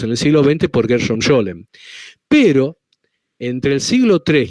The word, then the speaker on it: Gershom Scholem: místicos judíos o cabalistas más importantes, que es Gershom Scholem. Se escribe G-E-R-S-H-O-M y separado S-H-O-L-E-M. Gershom Scholem.